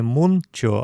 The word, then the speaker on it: мунчо: Следующий пример. Мунчо. Баня. Не мунчо, а Мунчо.